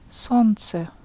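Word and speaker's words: солнце: Maybe you noticed that I did not pronounce this sound, L. Yeah, it's a tricky word. It has a letter that we don't pronounce.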